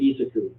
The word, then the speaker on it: Isaku: 507H 14364 Sandy Valley Isaku is actually his official pronunciation per the breeder of how this bull is supposed to be his name.